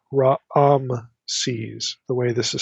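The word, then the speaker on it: Raamses: There's like two a vowels in the pronunciation. It's not ram's, it's raises the way this is spelled.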